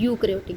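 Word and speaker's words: eukaryotic: एंड जिनके अंदर nuclear membrane होती है आर डेजिग्नेटेड, उनके अंदर उनको क्या बोलते हैं, यूकैरियोटिक। ठीक है। तो यहाँ पे ई साइलेंट रहेगा।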